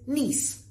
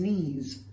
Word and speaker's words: niece: Now, I hope you don't say things like him and his knees, because if you say knees, I'm going to think we mean K-N-E-E-S, which is a part of your body, and it's not your niece.